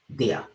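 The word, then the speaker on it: ضياء: presidents of pakistan but the arabic pronunciation will be diya so they are the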